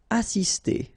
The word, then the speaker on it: assister: Assister. Okay, remember, vowel, vowel, double S, really strong S.